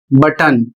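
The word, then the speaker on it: button: अगला शब्द है बी U double T ओ एन और इसका उच्चारण होता है बटन और इसकी हिंदी भी बटन।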